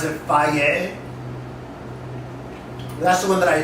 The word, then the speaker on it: Fage: It spells Fagee, but they pronounce it FI.